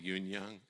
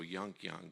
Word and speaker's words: Yun-Young: first name down, that Yun-Young. It's spelled Y-U-N-K, so you want to say Yunk. And then it's Y-U-N-G, Young, so Yunk Young, but it's not. It's like soon, so it's Yun-Young, and I have trained myself to say this correctly.